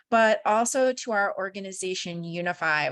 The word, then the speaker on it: Younify: also to our organization Unify, which is spelled funny, as my name is spelled funny, lots of extra Y's running around. It's YOUNIFY, and I'll put it in the chat.